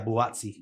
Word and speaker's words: Buatsi: Yeah, Buatsi.